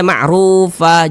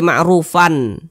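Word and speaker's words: معروفا: adalah Mad iwad Nah jadi ini dibaca ma'rufah jangan dibaca ma'rufan jangan tapi dibaca ma'rufa begitu Jadi Mad Iwat itu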